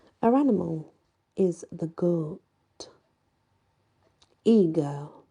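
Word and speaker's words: Aegir: animal is the good eager or igore um it is spelled a e g i r but it's also known as eager is e a g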